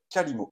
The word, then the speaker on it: Qalimo: Cet outil, il s'appelle Kalimo.